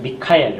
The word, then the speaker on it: 미카엘: 미카엘, 원래 이제 발음은 미카엘인데 가브리엘과 미카엘 둘 뿐이에요.